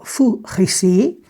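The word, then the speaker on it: Fu Xi: Vou falar de um cavaleiro chamado Fu Rixi, é a pronúncia do nome dele, e ele, digamos assim,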